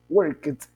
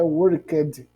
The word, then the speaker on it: worked: Veja, a pronúncia desse caso aí, em que tem o ed no final, devido ao verbo na sua origem terminar em K, a pronúncia fica com som de t, worked, worked. Ele não é worked, certo? Com som de D. Quase um som de T mesmo, worked, certo?